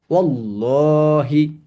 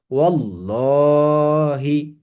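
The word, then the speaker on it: والله: জের জবর পেশ নাই এই আলিফে কোন সাইন নাই জের জবর পেশে নাই তাহলে এটার কোন উচ্চারণ হবে না এর পূর্বে আছে ওয়াও এর উপরে জবর আছে তাহলে কি হবে ওল্লাহি হরফের উপরে কোন জের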